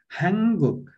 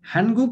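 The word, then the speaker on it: 한국: हाङगुक। अब हानगुक भन्ने होइन है, हानगुक भनेर भनिदैन है कोरियालाई। अब लेख्दाखेरि यसरी हान नफाच्छिम गराएर गुक लेखिन्छ, तर तपाईहरुले सही उच्चारण गर्नुपर्छ हाङगुक।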